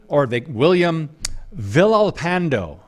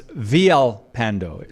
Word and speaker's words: Villalpando: So his name is William Villalpando. Villalpando, or it's Villalpando. Sometimes they pronounce the L's as Y.